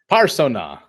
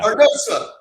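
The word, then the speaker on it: parnassah: Parsona. Yeah. Parnosa. Did I say it wrong? Wait, did I say it wrong? Yeah, I'm just coaching you a little bit. Parnosa, excuse me.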